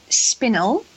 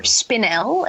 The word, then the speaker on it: spinel: absolutely remember is called spinnel for spinel as the Americans pronounce it it is spin-1 of